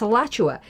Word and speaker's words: Alachua: Remember I said it's spelled here Alachua and it's Alachua.